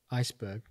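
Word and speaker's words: Esbjerg: And football wise, what was it like going from a club like Iceberg, I pronounced that correctly?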